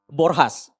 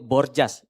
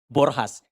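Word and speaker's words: Borjas: Uh in our Indonesian language we call it Bourjas right Baba Ibu. Yeah. But since he's a Brazilians we pronounce his name is Borhas. So we pronounce J with H.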